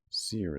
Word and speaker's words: sere: Sere is spelled like this. Dry or withered. Sere. Especially of vegetation. Oh, sir. To pronounce sir.